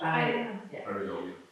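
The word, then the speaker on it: pareidolia: It's called pareidolie. How do you say that in English? Pareidolie.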